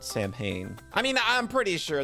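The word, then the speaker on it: Samhain: and the other world is it isn't this pronounced sawin I could swear that that's sawin not Sam Hayne I mean I'm pretty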